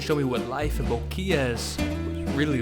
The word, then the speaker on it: Boquillas: Boqueles? Boquillas.